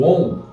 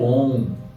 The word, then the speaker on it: Om: Quando a gente fala esse encontro vocálico A e Aum, e a gente começa a fazer uma forma contracta dele, a gente vai perceber que vai dar no OM.